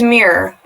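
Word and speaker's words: Myr: The farmer's name is Mir. It's spelled M-Y-R.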